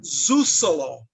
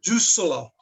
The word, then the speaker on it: Suzalo: Bosnia, Montenegro, and Dalmatia, Zusalo. Zusalo. C in Serbo-Croatian is pronounced like a TS. So it's, and you pronounce, there's no double consonants. Yeah, Zusalo.